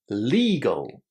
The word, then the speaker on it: legal: Legal. Legal. Can you hear the long e sound inside? Legal. And it's the same for illegal. legal. Illegal. We pronounce both of these words with a long e.